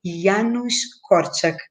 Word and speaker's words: Janusz Korczak: de corte eu falo se escreve janus corsar mas se lê e anos cortes que é a forma certa polonesa e a nos cortes